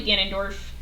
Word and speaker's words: Ganondorf: prefer his Ganon incarnations, but I do like Ganondorf, and I think he's a good balance of, like...